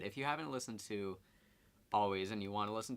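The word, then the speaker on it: Alvvays: believe by Canadian band always spelt with two V's but pronounced always I think they blew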